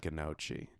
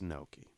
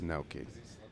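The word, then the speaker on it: gnocchi: scream at me like this is not ghannouchi I cook I cook and I'm like it's no key first of all that's how you say it it's no keys and are you just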